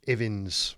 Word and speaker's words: Ivins: was a guy called bruce evans or ivins i've heard it pronounced both ways he was a biochemist